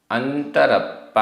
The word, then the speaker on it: अंतरप्पा: अंतरप्पा आधनात आधपा पूरा पा।